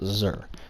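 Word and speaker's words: Xûr: of my name is xu r pronounced sir those of you who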